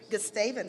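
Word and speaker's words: Gustavus: provider relationships and Business Development Matt graduated from gustafins how do we pronounce it gestavens thank you Adolphus College with a double major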